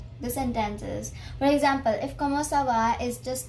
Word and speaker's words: comment ça va: The first way of saying or asking how are you is comment ça va.